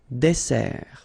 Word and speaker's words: dessert: So remember that we've got here two S, okay? That's the reason why you pronounce it S, and then it opens the E, dessert, un dessert. So you don't say un dessert, okay? But you say un dessert. Final T not pronounced.